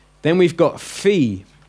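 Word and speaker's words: φῖ: alone then we've got fee as in phone a pH sound fee that's nice and easy that one then after it you've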